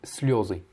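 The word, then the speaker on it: слёзы: Bon, là, comme on est sur un vieux texte littéraire, c'est pas indiqué, mais en soi, ça devrait être слезы. Et c'est comme ça que ça doit être prononcé.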